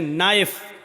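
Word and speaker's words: knife: line बोला नहीं जाएगा जैसे इंग्लिश में नाइफ इसको कहते चाकू को ए नाइस के मानव चाकू लेकिन के लिखा जाता है बोला नहीं जाता वह साइलेंट रहता है शो मी घुटना अ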